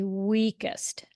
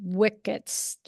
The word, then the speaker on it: weakest: Okay, say weakest. Weakest. Weak. Weak. Est. Est. Yeah, it sounded like you said wickest.